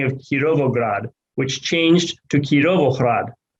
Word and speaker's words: Kirovohrad: on ukrainian maps was the wholesale change of the russian letter g by being part of the roman letter g with a letter h to reflect ukrainian pronunciation you can see this